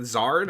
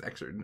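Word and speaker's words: Xrd: Guilty Gear Zard got like They have they have a Zard. I think it's Exard, isn't it? It's pronounced Zard.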